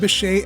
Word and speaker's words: Bechet: Pronounced Beshay after the early 20th century jazz saxophonist Sidney Bechet, this Kissaten opened in 1978 in a shop just around the corner from today's location.